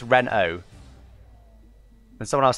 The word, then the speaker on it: Renault: an english word it's ren oh and someone else says ren alt re no indeed it's not only words it's french so renault renault renault reno renault okay okay it's reno renault is that right